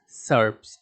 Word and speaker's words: SERP: result is known as serps serp pronounced as serps and is called search